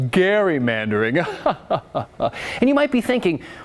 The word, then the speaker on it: gerrymandering: the party who says actually it's pronounced garrymandering and you might be